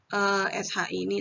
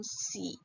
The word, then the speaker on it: shi: Jadi yang kayak SH ini tadi ya, bacanya jadi shi bukan si.